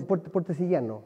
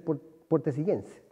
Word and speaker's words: puertecillano: Sí, no, puertecillano. Puertecillano. Claro, el gentilicio es puertecillano, o podría ser puertecillense.